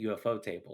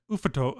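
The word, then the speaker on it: Ufotable: actually pronounce their name they don't pronounce it ufo table it's like oophoto it's like why do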